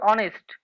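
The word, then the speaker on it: honest: কারণ এই যে অনেস্ট এই যে এখানে যে শব্দটা দেওয়া রয়েছে কি? অনেস্ট। এই যে অনেস্ট অনেস্টের প্রথমে কি? অ উচ্চারণ হচ্ছে।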